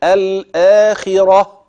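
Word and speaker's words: الآخرة: كلمه في بكلمه الاخره لكن لو وقفت في هوصل في الاخره اوعى تقول في الاخره لا دي تاء مربوطه لا تنطق تاء الا عند الوصل اما اذا وقفت تبدل هذه التاء المربوطه هاء كده الاخره ماشي الكلام خدت بالك بقى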